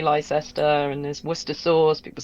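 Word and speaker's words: Leicester: yeah yeah I do I think some of our older places are weird like that I think they were anglicized later like leester Square people say Lester and there's wora people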